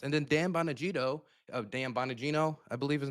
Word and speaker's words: Bongino: And then Dan Bonagito Dan Bonagino, I believe his name is pronounced. Bonagino.